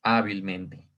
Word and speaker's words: hábilmente: Le agregan mente y se vuelve sobre esdrújula, porque si hacemos el conteo, es T es 1, men es 2, sil es 3 y fa es 4, es decir, esta cuarta sílaba o la que está antes de la antepenúltima es en donde hacemos nosotros la fuerza, ¿no?